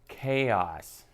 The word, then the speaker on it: KAOS: It's a game simply known as KAOS. KAOS. Spelled with a K. Yeah. Cool guy style.